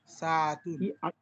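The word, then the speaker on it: ساعة: ঘড়ির এই উচ্চারণটা কি সাতুন জি সাতুন সিন আলিফ জবর সা আইন জবর আ সা তা দুই পেশ তুন সাতুন সাতু সাতুন ওকে ঠিক আছে আচ্ছা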